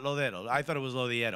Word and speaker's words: Lodeiro: You remembered a name you've said before differently, because we were saying it wrong. We were saying Lodero. Look, which is without the I totally.